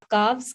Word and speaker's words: calves: So this is all calf, calves, calves, calves, half, halves. Please focus on the pronunciation. Don't pronounce L in these words.